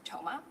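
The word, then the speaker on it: Thoma: Toma. My last name is spelled T H O M A.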